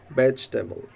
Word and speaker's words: vegetable: right pronunciation that is vegetable you have to make three syllable in this word just only three syllable that is vegetable vegetable